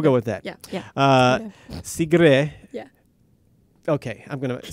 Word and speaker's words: Sigrid: girl secret now say so your name in how it's pronounced in Norway cigarette cigarette but it should I go with shall I go for a cigarette or should I just do C grid should we go for